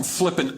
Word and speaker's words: Flippin: Name of the town is spelled F L I P I N. Hey, I'm John and I'm from Flipping Arkansas.